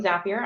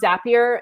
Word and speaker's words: Zapier: yeah what i heard i think it rhymes with happier zapier makes you happier